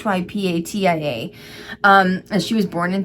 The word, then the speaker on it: Hypatia: If I spelled it, I may have pronounced that wrong. It's Hypatia.